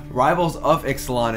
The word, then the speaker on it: Rivals of Ixalan: I keep saying it wrong, so I'm just going to make fun of myself and say it wrong on purpose now. Rivals over Ixalan is... that time I didn't mean to. Rivals of Ixalan is here.